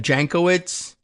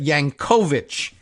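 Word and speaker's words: Jankowicz: her name, uh, one, the emphasis is on that middle syllable, and two, instead of not not Jenkoitz, but Yank, right? So, but but Yankovich, Yanovich is how it would be pronounced in Polish.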